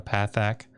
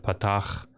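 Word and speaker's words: פתח: right there I'm gonna call that a path AK instead of putt-off and if I have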